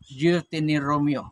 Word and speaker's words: Deuteronomy: Deuteronomy in Visayan pronunciation. Deuteronomy.